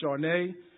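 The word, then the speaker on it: שָׁנָה: In the Hebrew translation, the word year, which is pronounced Sharneh, is defined as a revolution of time.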